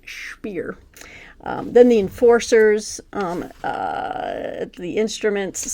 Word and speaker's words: Speer: That's the German pronunciation. Speer.